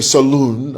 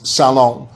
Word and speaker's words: salon: Some people say saloon, others say, but the correct pronunciation is salon with one O.